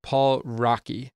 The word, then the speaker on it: Paul Raci: And I think his name is pronounced Paul Rocky, but I could be wrong. I looked it up. They said it's just like the word racy.